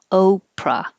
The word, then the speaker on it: Oprah: july 17 is oprah the vowel is o oprah but where did it